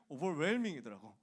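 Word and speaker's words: overwhelming: 5천 이거 책에서 공부했는데 그래서 나는 당연히 웰밍인 줄 알았거든. 오버웰밍이더라고. 오버웰밍 묵음입니다. H는 묵음이라고 유명한 말이 있잖아.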